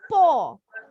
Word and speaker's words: paw: Kalau binatang, kalian kalau perhatiin kucing ya, yang tebel itu telapaknya yang tebel disebut po. Po artinya telapak binatang. Bacanya po. Jadi nggak ada bunyi W-nya ya. Bacanya cuma P-O. Po.